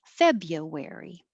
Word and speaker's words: February: It just takes a little longer, and anything that would change to in unstressed syllables is more likely that native speakers would do. It changes the sound, but it also changes the duration. January. 1, 2, 3, 4. January. Same as February. Publish.